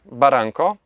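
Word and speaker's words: Barranco: Baranko to w języku hiszpańskim wąwóz. Po angielsku byśmy powiedzieli kanion. Więc wymawia się Baranko, A jako, że jestem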